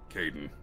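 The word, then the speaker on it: Kaidan: Kaiden.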